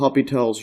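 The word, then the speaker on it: L'Hôpital: hospitals rule but but you pronounce it without the s and some people write it without the S as well but uh this is what I've been growing up using so recall the hopital's rule and we're gonna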